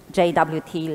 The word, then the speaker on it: JWT: go to RFC uh the suggested pronunciation for Json web tokens is J uh and it's kind of a word play uh because uh meaning of jot in English is like brief informal note or something very small so um